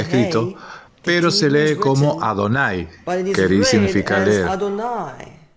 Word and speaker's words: Adonai: El Talmud nos dice, estoy escrito Yud Hei Waw Hei, pero se lee o se pronuncia como Adonai.